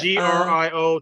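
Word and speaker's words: Griot: GR yeah played by g r i o t but it's pronounced Grio yeah uh played by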